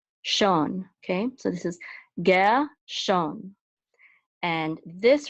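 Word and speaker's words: גרשון: So we know it's Gershon, not Gershon, because the accent mark is at the beginning of the second syllable. So it's Gershon.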